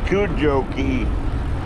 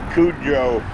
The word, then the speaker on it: Cudjoe: we're on kajoki kajoki kujoki how do you pronounce it crystal kajouki you're a dead giveaway if you pronounce it cujo that giveaway that you're a tourist kujoki that's right cujo